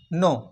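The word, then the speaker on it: know: একটা উদাহরণ দিই যেমন ডু রয়েছে ডু এবং নো এই যে দেখো নো এবং ডু দুটো শব্দ দেখতে একই কিন্তু প্রোনাউন্সিয়েশন কিন্তু আলাদা আলাদা ডি ও ডু এন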